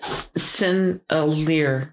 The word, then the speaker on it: Sennelier: How do you pronounce it? Sennelier. Sennelier. Sennelier? I think that's how it's pronounced.